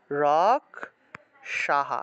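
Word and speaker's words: রাক্ষসাঃ: আগের যে অংশটা থাকে বিসর্গ এর আগের অক্ষরের কার চিহ্নটা সেই হ এর সাথে যুক্ত হয় বিসর্গ থাকলে হ উচ্চারিত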